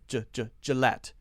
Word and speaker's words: Gillette: say the schwa ginger Gillette G Gillette Gillette Gillette we do say the T sound at the end Budweiser Budweiser Bud why